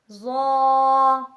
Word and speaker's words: ظ: دانتوں کو کہتے ہیں۔ ظا ظا ظا لفظ ظا یہ بھی پر کر کے ہی پڑھا جاتا ہے۔ اس کا تلفظ زبان کی نوک جب اوپر والے 2 دانتوں کے سرے سے لگے تو اس سے لفظ ظا ظا ادا ہوتا ہے، یعنی زبان کی نوک